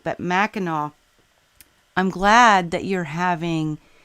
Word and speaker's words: Mackinac: Miss Ellis says you are saying it right Mackinaw and it's Northern Michigan well I gotta tell